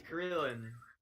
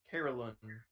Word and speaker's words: Carillon: Smasher made it to Carillon. Carillion, whatever. My instinct is to pronounce that double L with a Y sound. That doesn't feel right. But Carillon is the home, so